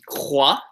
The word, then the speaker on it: croix: The first one you should do is croix. Pronounces like C-R-W-A.